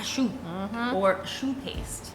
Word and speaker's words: choux: The next step, my friends, is pâte à choux, or choux paste. Choux is spelled C-H-O-U-X. Not like the shoe on your foot.